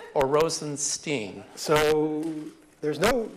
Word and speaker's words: Rosenstein: there's no right answer my family my father pronounces it Stine that's how I pronounce it but I actually have relatives who pronounced 16 so I answered either one all right you agreed